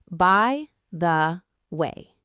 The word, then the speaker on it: by the way: By the way. By the way, the stress is on the word way.